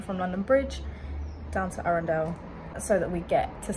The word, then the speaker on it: Arundel: we are now approaching arendelle i've been saying it wrong i thought it was a rondelle arender a recorder it